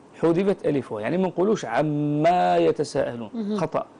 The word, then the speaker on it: عم: قوش عما يتساءلون خطا تحذف الالف في اللفظ لما ننطقها ولو نذهب الى المصحف ننظر في كلمه عم لا نجد الفا بعد الميم نجد الميم وذيلها الى اسفل يعني ليس يوجد بعدها الف فنقول عم يتساءلون من دون مد للميم لا نقول عما